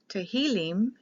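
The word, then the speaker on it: Tehillim: up differently the hebrew tahilim is for praises the i is pronounced like an e the psalms is the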